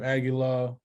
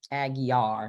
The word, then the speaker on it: Aguiar: benjamin crunk attorney sam aguilar aguiar aggie r l is silent right again again our